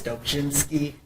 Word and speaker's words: Dobrzinski: I'm Dobrzinski. If you want to pronounce it correctly the Polish way, it's Dobrzinski.